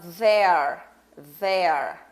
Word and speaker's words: there: E aí a gente fala there. Oh, there are some trees here. There aren't many people here. Right? Então, tem esta forma de pronunciar, que é um som vozeado, né? Voiced.